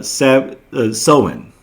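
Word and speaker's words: Samhain: Halloween became began as uh sen, right, which is spelled s a m h i h a i n.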